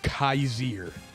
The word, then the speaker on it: Kyzir: linebacker what a linebacker kaiser i think it's actually pronounced kazir by the way okay